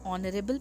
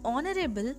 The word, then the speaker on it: honorable: For example, an honest boy, an honorable person. In both these words, honest and honorable, the H is silent and the pronunciation comes of O, which is a vowel sound, hence we place an before them.